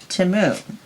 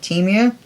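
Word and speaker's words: Temu: um Super Bowl commercial they pronounced it T Mo not t so from now on I'm going by what the commercial said never heard it pronounced out loud before everybody pronounces it Teemu I'm going with timu it's my story and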